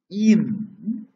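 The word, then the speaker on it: Eyam: Tailor's hearth in old Eam. Eam, E-Y-A-M, it is Eam, pronounced as E-M popularly. The correct word is Eam.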